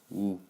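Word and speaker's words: ㅜ: I guess midnight and the pronunciation would go like ooh so first ah o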